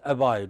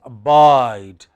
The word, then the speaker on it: abide: So, we do not say account, we say account. What do we say? Account. We do not say abide, we say abide.